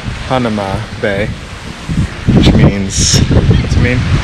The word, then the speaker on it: Hanauma: Hanauma. Hanauma Bay, which means, what's it mean?